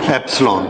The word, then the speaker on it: epsilon: हाउ इट is pronounced? Epsilon.